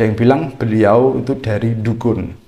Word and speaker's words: Dukun: bilang beliau itu dari dukun dukun bukan dukun beda dukun meskipun tulisannya dukun Tapi bacanya itu Dukun itu kecamatan yang ada